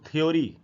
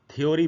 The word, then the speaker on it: theory: है वो है THEORY, इसको अक्सर हम लोग थ्योरी ऐसे पढ़ते हैं। थ्योरी बिल्कुल गलत उच्चारण है, इसका सही उच्चारण होगा थियरी, सी के बाद आधा अ है और फिर री का साउंड है, थियरी ऐसे पढ़ना चाहिए, थियरी।